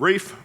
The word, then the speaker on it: Ralph: of the birth of rafe Von Williams it's spelled Ralph but he pronounced it in the Old English Wraith thus if you're